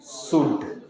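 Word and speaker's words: should: जाता है क्या पढ़ेंगे एस एच ओ यू एल डी शुड क्या पढ़ेंगे शुड डब्लू ओ यू एल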